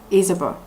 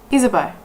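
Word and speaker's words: Ysabeau: failed but I looked it up apparently it's pronounced isabo isabo which is a Spanish kind of term for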